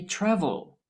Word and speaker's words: travel: Which syllable is stressed when I say travel? Yes, the first syllable is stressed, the TRA, travel. The last syllable with L at the end is not stressed.